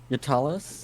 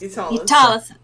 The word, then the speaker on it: Utalis: How do you pronounce that again? Yatalis? Utalis. Oh, I Right.